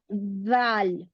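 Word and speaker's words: ذال: आपकी जबान की नोक दांतों के बीच में से थोड़ी बाहर आएगी। ऐसे रखो जबान को दांतों के बाहर थोड़ा सा थोड़ा सा, और उसके जी। बाद बोलो जाल।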